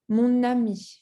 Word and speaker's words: mon ami: So you see when you say mon, and the following word starts with a vowel, like for example, A, you have to pronounce the N, mon ami, right?